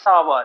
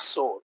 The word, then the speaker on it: sour: old story grapes are no it's grapes are sour not sore grapes are sore yoga grapes are sour but usually teacher pronounce it the grapes are sore no it's